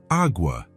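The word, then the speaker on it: agua: "How do you say awa in Spanish?"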